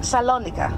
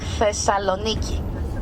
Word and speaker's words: Thessaloniki: You pronounce this place Salonica, right? Or if you want to be very generous, Thessalonica. Thesalon. We say Thessaloniki.